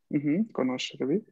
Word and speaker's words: conoscervi: Conoscervi. Conoscervi. El acento está en la segunda sílaba.